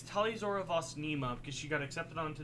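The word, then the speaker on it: Tali'Zorah vas Neema: you are born on is different it's like talia zihora or something out i mean oh i don't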